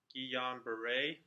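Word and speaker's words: Guillain-Barré: is G hombre syndrome so first it is pronounced ji-yong beret and it is an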